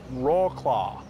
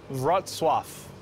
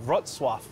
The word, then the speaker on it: Wrocław: We are in Wrocław. I'm gonna look up how to pronounce it first before I make a fool out of myself. Wrocław. We are in Wrocław.